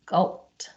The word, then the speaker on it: sculpt: hard one to say because we pronounce the last three consonants yes sculpt caught oh okay oh